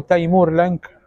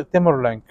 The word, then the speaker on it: تيمور لنك: بدايه ولايته شهد هجوم تيمر لانك او تيمور لانك او تيمور لينك على حسب نطقنا الناس طول النطق يختلف لكن هو اسمه المفروض يتنطق تيمور لينك تيمر لينك هجم على بلاد الشام